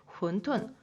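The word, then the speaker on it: 馄饨: 이 물만두, 얘네들은 혼툰, 우리 홍콩식 발음으로는 완탕이라고도 하죠.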